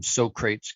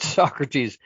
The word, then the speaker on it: Socrates: Socrates, as soon as I see that, I think of Bill and Ted's Excellent Adventure, and they called him Socrates because that's how it's spelled. But Socrates, again, that's an education thing, right?